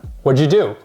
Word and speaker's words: what'd you do: a little weird but when you say naturally what'd you do what'd you eat this is how native speakers pronounce this why'd you leave the